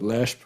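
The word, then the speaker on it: Leshp: But I totally trust Robbie Culshaw's pronunciation, and he pronounces it Lehsp.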